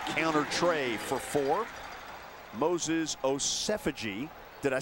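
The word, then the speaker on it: Osemwegie: He's Osefaji like is the latest.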